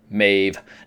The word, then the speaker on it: Maeve: Her name is not Thandy, it is Tandy, and her character's name is pronounced Maeve, not Maeve.